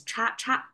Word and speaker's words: 叉叉: And we pronounce it as cha-cha because this crisscrossing sign in English, as an English letter, means crossing as well, right? In Chinese as well, we use it as, pronounce it as cha.